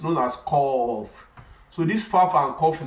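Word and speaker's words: ق: It's spelled as Q-A-F.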